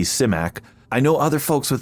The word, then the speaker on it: Simak: Simak. I know other folks with that surname pronounce it Symack, but I am getting the pronunciation of his